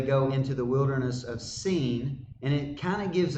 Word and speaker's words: Sin: Is how you say that in Hebrew, Sin.